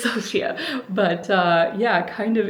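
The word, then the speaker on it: Sofia: it's just like locked in there I always pronounce it Sophia I know it's Sophia but uh yeah kind of interesting that you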